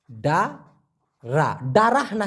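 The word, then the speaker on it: dara: আনা ডারা বলতে পারে খুব খেয়াল করে এটা বুঝবেন আনা আনা ডা রা ডারাহনা কিন্তু এটা হচ্ছে ডারা ডারা এই ডারার পরে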